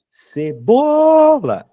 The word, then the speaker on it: cebola: Cebola! O que aconteceu? Eu encontrei a sílaba tônica, a sílaba mais forte. Qual é a sílaba que, quando eu chamei de longe, esticou? Cebola! Opa, é o bo.